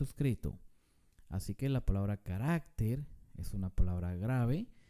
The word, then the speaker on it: carácter: consonante veamos otro ejemplo la palabra carácter no se dice carácter carácter se dice carácter